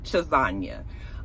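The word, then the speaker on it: Chassagne: name is Raina chesna it looks like CH chisa it's sort of spelled like lasagna but it's chisa um apparently she for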